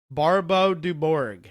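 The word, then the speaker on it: Barbeu-Dubourg: One of the contemporaries that he wrote to was Jacques Barbeau du Bourg. That's the American English French pronunciation of this man's name.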